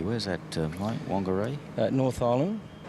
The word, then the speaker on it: Whangarei: Whangarei and Whakatane, as it's pronounced. It's a WH, but they actually pronounce it with the F, the traditional.